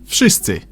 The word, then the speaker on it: Wszyscy: V in Wszyscy should sound like V in Wódka, but it seems to soften up to an F. Wszyscy.